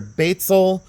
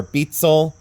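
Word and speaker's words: Beistle: and it's pronounced either Batesel or Betsel um or Basil. It it's one of three different ways and it depends on where you're at from the United States.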